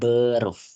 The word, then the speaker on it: Beruf: bahasa Jerman itu beruf ya bacanya beruf beruf itu artinya adalah